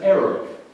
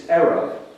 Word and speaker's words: eruv: of wall known in Jewish law as an eruv. It's spelled E-R-U-V, and it's a Hebrew word for mixing or blending.